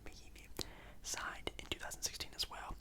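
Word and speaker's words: Mahinmi: And on the same year, Ian Mahimi, I know how to say his last name, Mahimi, signed in 2016 as well a 4-year, $64 million contract with the Washington Wizards.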